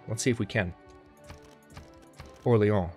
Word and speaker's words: Orléans: I might be able to take Orléans within this episode. Let's see if we can. Orléans, rather. That was a very American pronunciation on my part. Orléans!